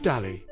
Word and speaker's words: DALY: The Disability Adjusted Life Year, or DALY, pronounced DALY.